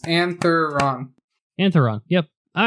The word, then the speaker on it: Antheron: ruins of anthon anthron antheron antheron make it three syllables antheron antheron yep all right